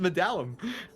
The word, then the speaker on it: Medalum: There's no I in there. It's just medallum.